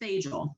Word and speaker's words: Tejal: And so the example they gave in this podcast was the teacher's name was Thejal. It's spelled Tejal.